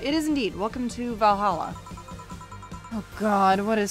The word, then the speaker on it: VA-11 Hall-A: voices for characters excuse me is this the va 11 paul a bar i don't actually know how you're supposed to pronounce that uh it is indeed welcome to valhalla oh god what is say planning now uh